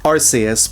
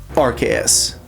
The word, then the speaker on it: Arceus: That's not to say that those arguments don't exist for Arus, but they're more prevalent for Archus.